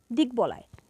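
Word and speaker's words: দিগ্বলয়: ব আছে এরপর আছে দিক বলায় এটাও সন্ধিজাত শব্দ তাই এর উচ্চারণে ব এর উচ্চারণ বজায় থাকবে সেক্ষেত্রে এর উচ্চারণ হবে দিকবলয় এরপর শব্দের মধ্যে বা শেষে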